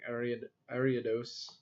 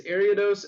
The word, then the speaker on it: Ariados: Also, I've seen a a really good deck using ariodos. I swear I could pronounce Pokemon names. They're just hard sometimes. It's Ariados and then the Radicate Break.